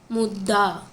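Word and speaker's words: ముద్ద: Mudda. So you have to spell the letter Da first, then spell it to the half letter It, then pronounce the bottom letter, complete the sound like Da.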